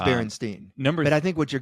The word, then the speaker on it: Berenstain: We're slipping between the universes, and in other universes, it's Berenstein, not Berenstain. Okay. Because we have to admit, Berenstain does not sound as good. It may be pronounced Berenstain, but I think what you're getting at is